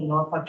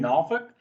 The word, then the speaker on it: Norfolk: Yeah, I think the confusion is on how you're saying Norfolk, because you're not saying it, if you're not swearing at the end, you're not saying it right.